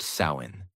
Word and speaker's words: Samhain: And the most powerful day of the year was October 31st, the night of the festival called Samhain, pronounced Samhain.